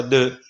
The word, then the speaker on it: deux: 2 si scrive come vedete, si pronuncia de.